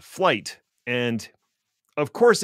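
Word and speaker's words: Flyte: the Linux foundation called flight and of course it's not spelled like it sounds it's f l YT and why they could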